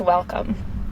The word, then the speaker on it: WLCM: So our agency is pronounced Welcome. So it's spelled WLCM, but it's pronounced Welcome.